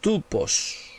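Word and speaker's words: τύπος: tipo de cristal la pronunciación griega o como se escribe es tu post tu post cristo es adán cristo es tu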